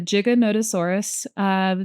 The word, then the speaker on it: Giganotosaurus: All right, so I'm going to briefly pause this so I can learn how to pronounce this dinosaur. Right. So it's the Giganotosaurus.